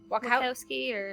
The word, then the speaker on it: Wachowski: Wachowski I think so.